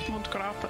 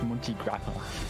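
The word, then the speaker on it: Monte Grappa: pronunciation, it's the fact that you want Montgrappa. No, it's Monty Grappa.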